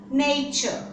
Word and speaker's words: nature: let's pronounce these words nature now if you see that these are the two words which are quite similar to each other you can't say that it's natural like in this natural this is nature